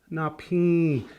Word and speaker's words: napin: There's an N in there like that. I know it's not spelled like that, but you'll Nasal hear N, yeah. there's a nasal N, and but it actually a real soft N at the end, right? Napin.